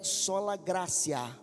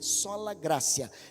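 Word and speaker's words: sola gratia: a quarta base é sola grácia ou gratia né escreve com t em latim e se pronuncia com c sola grácia diga comigo somente a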